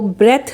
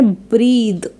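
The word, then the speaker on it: breathe: for example ब्रीद बेद बहुत सारे लोग ब्रीद को ब्रेथ रीड करते हैं जो कि एक गलत प्रोनंसिएशन है इसे पढ़ना है ब्रीद इसे बेद पढ़ना है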